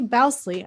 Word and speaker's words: Bousley: have a special guest and that is Stephanie bousley I should have made sure I'm pronouncing your last name correctly is that right